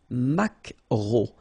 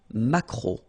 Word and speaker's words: maquereau: So technically this K, just pronounce it K, mac, macro, macro, alright? And then E-A-U, remember when you combine these three vowels, you get the sound O, macro, okay?